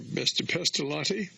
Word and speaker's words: Pestalozzi: Pestalozzi, the end is L-O-Z-Z-I, and it's the Swiss. Switzerland borders Italy, and it's an Italian name, but it's Pestalozzi. It's pronounced like a T, L-O-T-Z-I, Pestalozzi, but it's actually two Z's. That's just the way the Italians pronounce that type of syllable.